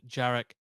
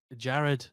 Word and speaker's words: Jared: being bankrolled by 41-year-old jarck Jared sorry isaacman his middle name isn't sorry I just had to say sorry for mispronouncing his first name you me a pilot